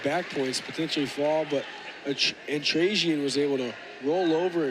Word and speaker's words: Antrassian: Antrassian. Thank you for that. Antrassian, yep. My apologies. Oh, no. Antrassian. Oh, wow. Takedown almost straight to a set of back points, potentially fall, but Antrassian was able to roll over and avoid giving